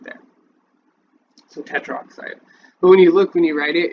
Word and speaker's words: tetroxide: Tetraoxide, it's tetroxide. So like you'll see that down here, but it would be tetroxide. Maybe it is spelled tetraoxide. Tetroxide. No, it is tetroxide.